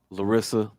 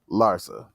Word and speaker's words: Larsa: With his intended Larissa Larsa. How you say her name? Larsa.